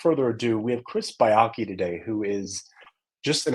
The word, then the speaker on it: Baiocchi: Baiocchi. Baiocchi.